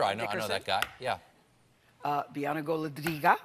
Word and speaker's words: Bianna Golodryga: Bianca Goladriga. I like to say her name like that because she speaks Russian, which I always get such a kick out of.